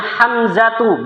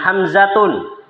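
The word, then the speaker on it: حمزة: Maka bacanya Hamzatu bukan Hamzatun.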